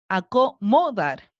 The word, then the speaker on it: acomodar: tres cuatro sílabas cierto en cual está acentuada acomodar en que alguien la vos en la última en suena bien vamos a cargarla en la penúltima para salir de dudas por si acaso acomodar no suena verde nada bien entonces sabemos que está marcada en la última por lo tanto sería una palabra aguda acomodar brújula tiene marcada